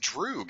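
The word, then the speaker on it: друг: would you wear a pure yes it's actually pronounced drug and it's Russian for friend my dog was just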